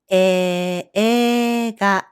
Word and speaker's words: えいが: However, we pronounce it EEGA. EIGA. The sequence AE in spelling becomes AA in pronunciation. As a result, the hiragana I in this instance is pronounced as E.